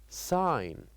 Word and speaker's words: sign: So this word has one silent letter which is G. G here is silent.